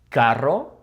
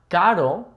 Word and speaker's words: carro: Carro, remember it's not caro because caro with the singular R would be expensive, just like perro with the singular R would mean but, okay? Perro, carro, and this one, ferrocarril.